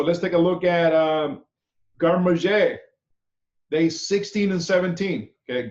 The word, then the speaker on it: garde-manger: The meaning of garde-manger has changed over the years. Garde-manger, pronounced garde-manger, okay, with C-H-A-Y, is a French term that roughly translates to storing, keeping, protecting, to eat.